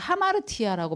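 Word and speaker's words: ἁμαρτία: 하마르티아라고 발음하고 저 정도는 알아두시면 좋을 것 같아요.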